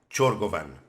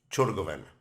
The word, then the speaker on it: Ciorgovean: So I just tried to listen how a Romanian would pronounce it and try and get as near as possible. So it's Justin Ciorgovean.